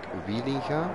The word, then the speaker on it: Wielinga: back to our leader wielinga i'm trying to pronounce these names in the english language with the english pronunciation in dutch we talk wielingham with a soft g you see really got